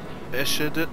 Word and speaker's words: Eschede: Eschede.